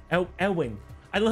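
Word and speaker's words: Éowyn: It's Eowyn. Eowyn. I don't know how to pronounce medieval English.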